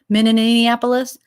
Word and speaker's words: Minneapolis: I love how everyone mispronounces it. Minneapolis. Mini. They call it the small apple, the mini apple.